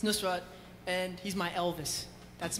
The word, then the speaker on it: Nusrat: That's why you mispronounced his name. Because, no. Because I have a friend named Penny, and I played her the thing, and she said Nusrat. Yeah. It's Nusrat, and he's my Elvis.